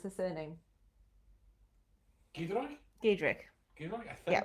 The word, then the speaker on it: Giedroyc: Giedroyc is how she pronounces it. Thank you. Says Steph. I Thank had you. the faintest idea. Giedroyc.